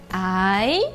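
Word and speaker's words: 癌: A palavra câncer se escreve assim em chinês, o ideograma, e a sua pronúncia é ai, interrogação, né? Então é ai.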